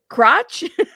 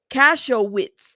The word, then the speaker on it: Kasowitz: what do y'all think how do you say that name cashwiz cashwiz cashew yeah see I'm I'm pronouncing the K like Katz thank you ctz crotch I would have said crotch Donnie uh Mark crotch Mark crotch cashow witz thank you guys y'all